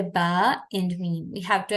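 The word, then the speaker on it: ب: so B is not the correct pronunciation that is not an Arabic letter only the pronunciation of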